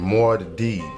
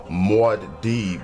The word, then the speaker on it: Muad'Dib: This your man's Muad'Dib, man, and that's how you say my name, Muad'Dib. Muad'Dib, Muad'Dib. It's not hard at all. It looks harder than what it actually is, though.